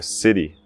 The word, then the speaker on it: city: Eu escuto muitas vezes brasileiros não pronunciando esse Y. Falando como city, né? Quando é city, cidade, city. E não é city. O Y sempre se pronuncia I, como som de I.